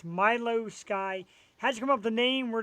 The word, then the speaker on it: Milou Sky: It's Milio Sky.